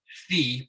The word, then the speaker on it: phi: It's actually the Greek letter phi, P-H-I, but they pronounce it like P-H-E-E.